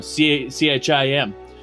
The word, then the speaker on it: Chim: pronounce Chim you know c-h-i-m and he said Chim as in cheese and uh uh what's